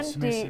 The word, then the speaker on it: bisnis: Misalnya dari bahasa Inggris ya, tulisannya kan business, kemudian Bisnis itu ya.